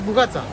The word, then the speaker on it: Bougatsa: This is Bougatsa.